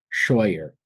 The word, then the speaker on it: Shawyer: too great uh but uh South Carolina Shyer did I pronounce that correct H awesome awesome thanks for